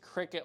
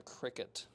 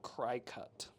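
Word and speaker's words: Cricut: Oh, it's pronounced cricket like the insect. Gotcha. Yeah, I have heard of that before. The cricket cricket instead of uh cry cut, but uh my brain insists on pronouncing it wrong, I guess.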